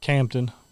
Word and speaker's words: Compton: the middle, literally out in the middle of Compton, California. Like off Crenshaw Boulevard in Compton. Didn't get to do it. We did it. Is it pronounced Compton or Campton over there? Campton.